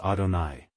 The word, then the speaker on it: Adonai: adni meaning Lord and pronounced by us Adonai three eh H which